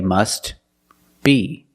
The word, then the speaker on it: must be: must be must be if you separate the words and you pause between words then you could say must be but if you link the words you pronounce it must